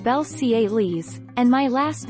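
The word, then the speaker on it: Belcalis: how i pronounce my name my name is pronounced belle ciele's and my last name almanzar cardi b explained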